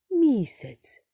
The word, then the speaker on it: місяць: стоїть наголос у словах наприклад в слові місяць два склади наголос падає на перший склад місяць а другий склад є ненаголошеним дітки скільки складів у слові